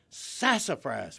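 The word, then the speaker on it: sassafras: Okay, in appreciate first of all the emphasis on the first syllable was spoton and a little bit of elongation of the s sound. Sassifras sassifras $200.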